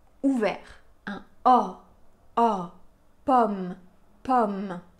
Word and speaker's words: pomme: a a pomme pomme pourquoi parce que après ce son le son final du mot c'est un son de consonne c'est le son m pomme c'est le dernier son de cette syllabe et donc dans ce cas-là on a un o ouvert pomme chausson au pomme vous